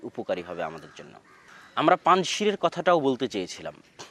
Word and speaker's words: পাঞ্জশির: আমরা পাঞ্জশীরের কথাটাও বলতে চেয়েছিলাম যে পাঞ্জশীর বা আমাদের বাংলায় লেখে পাঞ্শির। কিন্তু সঠিক উচ্চারণ হচ্ছে পাঞ্জ।